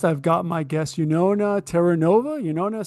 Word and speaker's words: Taranova: my name is Yuna Teranova and my name is my fate because uh not many people can pronounce it right away. You no uh well it rhymes with supernova, right?